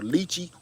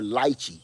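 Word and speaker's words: lychee: you know you're from either lii or liy l y a l y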